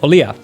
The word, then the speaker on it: Olija: little bit quicker, is Olija, which I don't know. That's how you pronounce it, but I feel like for like English speaking people, most will say like Olija or Olija. Because, you know, pronunciations.